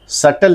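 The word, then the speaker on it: subtle: कैसे बोलते हैं वेडनेसडे सटल लिखा जाता है बी इज़ कंप्लीटली साइलेंट है वी वुड से सटल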